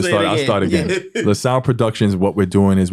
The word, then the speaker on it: LaSalle: Okay, so what's your goals for LaSalle Productions? Am I pronouncing it right? LaSalle, LaSalle Productions.